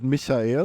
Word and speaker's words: Michael: You should pronounce it Michael because I'm German originally.